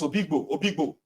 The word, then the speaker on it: Obigbo: started pronouncing it as Obigbo. And I'm like, but they are writing Oyigbo. They said, no, it's Obigbo.